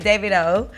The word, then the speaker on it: Davido: name right because i feel like we all pronounce it dear friendly yeah well it's really david with all within david davido wow so the world don't know that nigeria